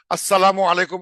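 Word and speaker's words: السلام عليكم: যে যদি বলা হতো আসসালামু আলাইকুম আমরা ভালোভাবে দিচ্ছি ও নবী আসসালামু আলাইকুম আলাইকু ওরা হয়তো বলবে আসসালামু আলাইকুম আসসালামটা লামটা উচ্চারণ করবেন আসসালামু আলাইকুম বুঝা যাচ্ছে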